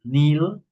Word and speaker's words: kneel: Okay, so here, kneel, nailed, nailed. In this case, this K, this letter K, is silent, no? Is silent. We don't pronounce the K.